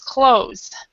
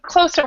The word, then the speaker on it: clothes: pronounce it like this close so we don't actually say that the t h and the E are not pronounced oh okay okay now